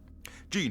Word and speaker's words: Gene: nugget to mention, but my name is pronounced Gene, like the pants. It's not the correct way to say my name, but it's been this way for years. So Lean Mean Gene does rhyme.